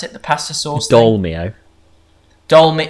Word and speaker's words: Dolmio: it the pasta sauce dolmio dolma demio dolmio demi you're not pronouncing the oh demio charlie demilio no